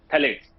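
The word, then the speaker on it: phthalates: दूसरा chemical थैलेट्स, P silent है, PTHALATES, थैलेट्स।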